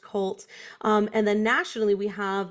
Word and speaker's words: QLT: It's actually QLT, but it's pronounced CULT.